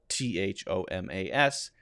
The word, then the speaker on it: Thomas: we've got two now th also makes a hard t sound we're not going to focus on that one because that's just a t sound so in words like thomas for example t-h-o-m-a-s it's pronounced t thomas